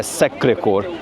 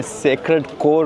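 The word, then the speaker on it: Sacré-Cœur: अब ये आपने ज़हन में रखना है कि मैंने सैक्रेड कोर नहीं कहा, ये सैक्रे कोर इसका जो प्रोनाउंसिएशन है।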